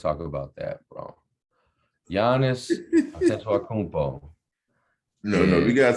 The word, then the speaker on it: Antetokounmpo: Giannis Antetokounmpo, No, we and gotta say his name correctly for the you tell record. me how to say it correctly. Giannis Adetokounmpo.